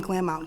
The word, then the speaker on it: Glamount: Am I pronouncing that correctly? Yes. There we go. Confirmation. The name Glamount came up in terms